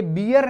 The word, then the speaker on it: bear: कुछ विशेष आता है, ये बियर नहीं है। हम पढ़ते हैं छोटी क्लासेस में, हमने कुछ भी पढ़ लिया, BEAR, बियर, बियर मीन्स भालू। ओके, यह बियर नहीं है, यह है बेयर। इसका जो प्रोनाउंसिएशन है वो क्या है, बेयर है।